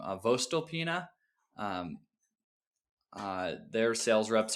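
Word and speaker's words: voestalpine: So, um I don't know how you pronounce their name, Vostalpina. Um, uh, their sales reps are super useful. It's an Austrian company. First Alpena.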